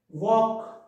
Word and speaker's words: walk: Silent L, L is silent with these letters. So half, talk, calm, should, walk.